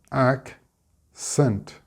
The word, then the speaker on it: accent: Split the C's and we get accent with the stress on the ac.